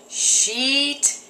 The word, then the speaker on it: sheet: to say this word say it with me sheet sheet sheet really stretch it sheet sheet sheet and